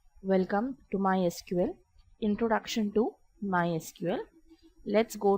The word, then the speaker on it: MySQL: MySQL is a very popular open source database, officially pronounced as MySQL, not MySQL.